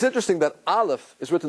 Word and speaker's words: Aleph: it you heard it no sound silent right there's something spiritual doesn't have a sound the highest point in spirituality it has no physicality The Aleph has no physicality it's